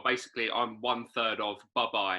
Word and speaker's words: Bubye: Luis and well basically on one third of buh-bye it's pronounced buh-bye there is a there's a bit of a